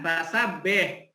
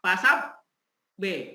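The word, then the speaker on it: فَسَبِّحْ: Perhatikan, fasabbih. Di sini ada tasdid. Kemudian robbika ada tasdid. Bagaimana cara bacanya? Ditekan. Cara bacanya harus ditekan, tetapi tidak ditahan. Bagaimana yang maksud ditahan? Pasab B. Nah, itu namanya ditahan dulu, itu tidak boleh.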